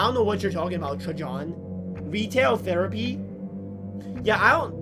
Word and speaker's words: Trajan: How'd you pronounce Trajan? Trajan. Yo, it's just Trajan, man.